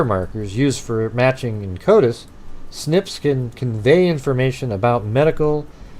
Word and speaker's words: SNP: nucleotide polymorphism snip pronounce snip SNP pronounced snip the direct to Consumer